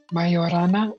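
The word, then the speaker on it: mejorana: Mayorana is how they say it in Spanish.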